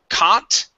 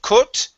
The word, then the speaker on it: caught: Let's go to the word caught. Okay, instead of cut, this is an ah sound.